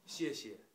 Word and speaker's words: 谢谢: So I'm going to teach you some simple Chinese, like it is thank you, and in Chinese pronunciation is 谢谢.